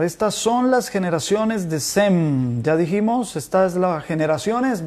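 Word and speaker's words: Shem: el acto le doy en sem es como se pronuncia en hebreo que significa su nombre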